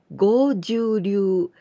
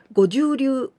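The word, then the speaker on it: 剛柔流: But please be careful because I heard many people say goju ryu. Goju, it means 50. The number 50, goju. But this kanji, we pronounce with go, the longer sound.Goju-ryu.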